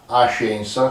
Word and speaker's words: Ascensa: L'ascensione in milanese è la scienza, non la scienza, la ascensa, cioè l'ascensione, e fa rima con senza, perché come sappiamo il milanese scrive le z ma non le pronuncia mai.